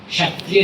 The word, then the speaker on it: क्षत्रिय: खत पूजना उसे कहते हैं क्षत्रिय से क्षत्रिय से अपभ्रंश हुआ और हम खत पर आ गए क्षत्रिय जो शब्द था हमारे लिए उसको हमने गलत उच्चारण किया हमारी भाषा संस्कृत से उसके बदल गई हम क्षत्रिय पे आ गए वास्तव में क्षत्रिय है ध्यान रखना हम